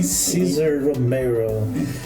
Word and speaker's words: Cesar Romero: Olha a pronúncia, muito boa. Agora acertei, hein? Cesar Romero.